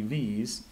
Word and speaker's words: VVVVVV: The simple solution is that the first 2 and the last 3 V's are silent V's, so you don't pronounce them.